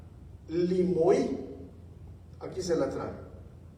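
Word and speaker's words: λιμοί: Entonces, aquí se está refiriendo a una palabra griega que se llama o que se pronuncia limoí. Aquí se la trae limoí.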